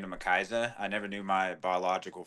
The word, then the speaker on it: McCyza: of kind of interesting last name but it's pronounced makisa okay well there we go I'll talk to